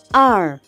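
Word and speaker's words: 二: and then we have the number two r r r r that's the pronunciation and it's just two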